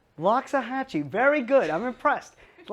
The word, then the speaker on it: Loxahatchee: this place is hard to pronounce can you pronounce it loxahatchee loxahatchee very good i'm impressed a lot of golf